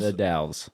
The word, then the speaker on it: The Dalles: The Dalles. the Dalles. Dalles, yeah. How do you spell that? It's the and then DAL. Oh, it is the Dalles. Again, pronouncing all the Dalles.